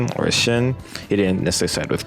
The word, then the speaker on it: Shin: Oh well, I guess his name wouldn't be pronounced Sin in Japanese. It'd be Shin.